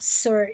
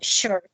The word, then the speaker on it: sure: cell short shells maribel the correct pronunciation of this word is not sir is sure okay okay like like when you are telling someone yes i am sure that's the correct pronunciation